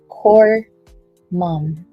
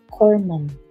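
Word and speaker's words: Corpsman: Corpseman is pronounced corom. Oh, okay. Corm.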